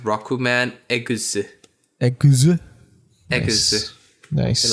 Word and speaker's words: Rockman EXE: And if it's pronounced Rokuman Eguse.